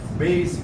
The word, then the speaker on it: basic: بيسك معناه اساسي، بيسك مش بيزك. على فكره بتنطق بالسين مش بيزك على فكره، بيسك.